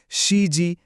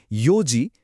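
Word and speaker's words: 四時: চারটা, সাতটা এবং নয়টা বাজার ক্ষেত্রে কোনভাবেই মানে ভুল করেও সিজি, নানাজি বা কিউজি বলা যাবে না। ওই হাইলাইট করা অংশগুলোর সঠিক উচ্চারণ হবে ইউজি, সিচিজি এবং কুজি এটা একদম মাথায় গেঁথে নিতে হবে।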